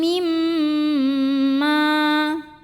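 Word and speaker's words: مِمَّا: Nasibum mimma. Mim yang kedua ini adalah gunnah musyaddadah karena mimnya bertasydid. Maka bacanya dengung, bunyi M-nya tahan kurang lebih 2 harokat.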